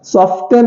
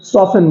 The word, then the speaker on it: soften: SOFTEN सॉफ्टन नहीं है, ये सॉफन है, सॉफन, सॉफ्टन नहीं बोलते हैं, सॉफन बोल देते हैं।